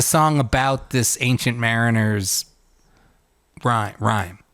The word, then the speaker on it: Rime: I'm sorry I I'm it's called rhyme of the Ancient Mariner like a rhyme like a nursery rhyme yes but it's spelled so it says i-m-e all right but does